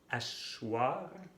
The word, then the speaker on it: asseoir: No es fácil este verbo, porque se escribe con doble S, el sonido wa, es decir, la O y la I, pero enfrente de la O se pone la E. Asseoir, y se va a